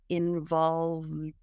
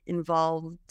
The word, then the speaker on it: involved: English in this case the E is silent and it just sounds like a d so the V goes straight into the D sound involved and then you have linking involved in involved in it